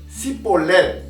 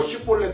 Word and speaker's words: 쉬볼렛: 그래서 너 쉬볼렛 한번 해봐. 그랬을 때 쉬볼렛을 시볼렛 이런 식으로 발음하는 사람은 에브라임 사람으로 알고 죽인 겁니다.